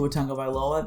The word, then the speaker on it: Tua Tagovailoa: player so we'll begin with qb one two otango by lola that's by the way that's how you pronounce his name uh 78 i think he